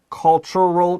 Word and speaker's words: cultural: story behind this appetizing cultural treasure. I personally 我个人很喜欢 appetizing 这个字，因为 appetize 听起来就很有胃口。 Yeah. 对，所以我们的子标题他说这个开胃文化宝藏背后的美味故事。 So we have some pretty fun pronunciation here. We have cultural. 这个 tu is a ch.